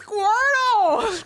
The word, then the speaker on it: Squirtle: my God Brandon how you say it it's Squirtle Squirtle how you say it bro that don't